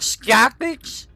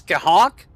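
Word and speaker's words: Scáthach: Wait, Skahawk? It's not Skapix? It's not Skahax? Or however I was pronouncing it, it's Skahawk? Oh, it's Celtic. Okay. I was pronouncing it like English.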